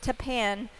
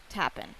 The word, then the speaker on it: Tapan: have confirmed it is Tapan, not Tapen. Oh, it is Tapan. Yep, it is Tan. I know. Yep. We were saying it wrong the whole time, but but he puts in his final local breeze.